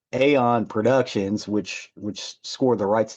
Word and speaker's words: EON: Aeon spelled E-O-N, when you would think it was Eon, but it's not. It's pronounced Aeon.